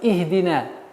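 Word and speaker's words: اهدنا: В данный момент у нас огласовка третьей буквы кесра, и поэтому мы начинаем «ихдина». «Ихдина». Итак, четкое и ясное произношение звука «и».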